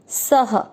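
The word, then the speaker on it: सः: क में अ मिक्स करेंगे करोति, स में अ की मात्रा, तो स और अ की मात्रा इसलिए विसर्ग को पढ़ेंगे ह, सह।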